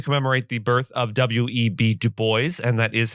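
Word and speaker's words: Du Bois: On this day in legal history, February 23rd, we commemorate the birth of Web Dubo. and that is how it is pronounced.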